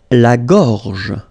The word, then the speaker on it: la gorge: Okay, remember when you've got this combination G and O, you get the sound go, go, okay? So, gorge, gorge. And then, G and E gives J. La gorge, la gorge.